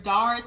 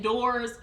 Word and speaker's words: DARS: I'm pretty sure it's DARS, because I've used DARS when I was in my car accident. I was a part of DARS, but I think her DC accent is pronouncing it doors.